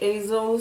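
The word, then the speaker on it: Aysel: On va suivre une jeune fille qui s'appelle Hazel, mais ça s'écrit pas comme Hazel dans Hazel Grace, non, c'est Hazel, ça s'écrit A-Y-S-E-L.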